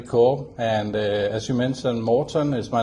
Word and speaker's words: Morten: And as you mentioned, Morten is my name. And you did a very well pronunciation of the name there, so good job for that.